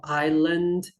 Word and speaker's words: island: should be pronounced differently now silent letters yes please stress them enough on the board cross out the letter and say that we do not pronounce this one be very careful in this example we have island wednesday be careful to cross out the letters and of course focusing